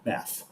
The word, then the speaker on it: bath: our favorite superheroes now the second word is bath there is no t sound there it's not bad it's bath okay we don't take a bat we take a bath um you cannot put